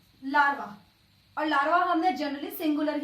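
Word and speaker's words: larvae: के दे रही हूं, लार्वा, और लार्वा हमने जनरली सिंगुलर ही पढ़ा है। लार्वी, लार्वा, लार्वी। तो ये ए ई का साउंड क्या प्रोनाउंस करेगा? ई की साउंड आ जाएगी।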